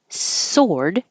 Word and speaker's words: sword: lips begin rounded sworn and sword we don't say the W it's spelled with a W and you do round your lips but not as much just soord think of it as sore my uh I have a sore arm plus a d Mountain this is another